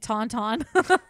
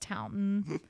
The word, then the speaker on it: Taunton: I bet you $20 it's pronounced Taunton.